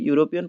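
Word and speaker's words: European: This is dash यूरोपियन lady, अभी यूरोपियन पढ़ोगे तो वाई का साउंड आएगा, यानी कि कॉन्सोनेंट का साउंड, तो ए आ जाएगा, ठीक है।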